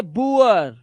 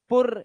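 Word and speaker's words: poor: अब देखो शब्द में डबल ओ के बाद आर आ जाए तो डबल ओ का जो उच्चारण है वह उआ हो जाता है। उआ है ना उ जैसे पुअर पुअर अब ये पुअर वुर नहीं है पुर या पुर नहीं पुअर पुअर मुअर उआ मुअर पुअर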